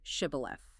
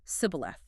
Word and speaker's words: shibboleth: to pronounce the word shibboleth. Such a chilling detail. The Ephraimites have a regional accent and can only say sibboleth. Based purely on how they pronounce a single consonant, 42,000 Israelites are slaughtered by their own brothers.